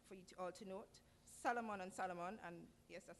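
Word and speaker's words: Salomon: Solomon and Solomon, and yes, that's the correct pronunciation of the case, in which the court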